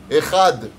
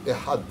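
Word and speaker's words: אחד: Il dit echad, lo katuv echad, katuv ehad.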